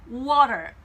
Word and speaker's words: water: 문제가 되는 게 아니라 사실은 이걸 못 알아듣는 경우는 앞에 있는 이 W에 해당하는 요 소리를 여러분이 하지 않아서 못 알아들었을 가능성이 많습니다. 미국식으로 T를 부드럽게 한다고 해서 이 W 발음이 없는 건 아니에요. 그냥 약하게 water 이렇게 발음하시면 안 되고요. water 이렇게 발음이 되고요. 자, 영국으로 넘어가시면 T 발음해도 됩니다. 중요한 건 앞에 W 소리에 해당하는 그 워 소리를 잊지 않으시는 거예요.